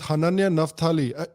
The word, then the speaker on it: Hananya Naftali: I am here with Hananya Naftali. Did I say that right, Hananya? Am I mispronouncing it?